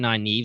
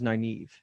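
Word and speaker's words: Nynaeve: that twist though tonight how do you pronounce it i say my my audiobook says naive naive okay i really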